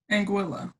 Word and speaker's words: Anguilla: Ariel has gone on to study chemistry and went to medical school in Anguilla. Is that how you say it? Anguilla. Anguilla, thank you.